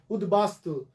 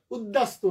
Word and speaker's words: উদ্বাস্তু: উদ্বাস্তু, বাস্তু মানে ঘর বাড়ি, বাস্তু শব্দের আগে উত উপসর্গ, উত যোগ বাস্তু, উদ্বাস্তু, উদ্দাস্তু না, উচ্চারণটা উদ্দাস্তু না, এখানে বফলা উচ্চারণ হবে উদ্বাস্তু।